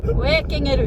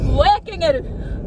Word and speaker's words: wekingeru: Wekingeru. Wekingeru. Wekingeru. Not kangaroo.